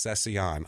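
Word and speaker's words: Cécillon: stutter Mark cesion CU it doesn't look right it looks like it should be cecilion but it's not it's L's in it it is it is I'll spell it for you it's c e with a accent over the E uh c i l l o n so I think it's cesan I've seen tons of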